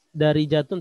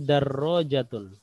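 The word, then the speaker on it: دراجة: Ya, bukan dari jatun tapi darrojatun. Ya. Darrojatun, benar. Darrojatun. Ayo, darrojatun. Ro-nya tasdid ya.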